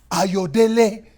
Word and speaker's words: Ayodele: You say it wrong. No. Ayodele, but it's with conviction. Right. Ayodele, and right.